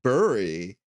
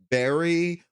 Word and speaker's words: bury: They're like, bury? Who the fuck? What is that even a word? I'm like, dude, look it up, you fucking chud. Like, dude, it has two pronunciations, bury or bury.